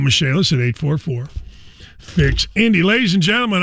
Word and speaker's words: Michaelis: Dan Dakich here for the Michaelis Corporation, spelled like Michael is, but pronounced Michaelis.